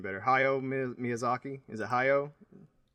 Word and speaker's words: Hayao: saying this wrong, Justin, because I trust your pronunciation better. Hyo Miyazaki. Is it Hyo? Yeah, it's Hyo.